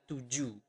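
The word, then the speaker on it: tujuh: in basa we usually we do not pronounce the h at the end of the word so you do not pronounce it as Tu but tuu okay tuu and then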